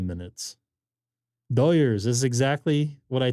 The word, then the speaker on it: Doyers: Neil, what's Los Goyers? Come on now. Doyers. Doyers. Is that their Well, the Hispanic what's folk. the promo called? The Hispanic folk here in Los Angeles area pronounce it Doyers.